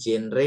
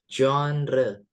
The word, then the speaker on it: genre: Kemudian, nah ini bacanya bukan genre, bukan genre ya, tapi Johnre.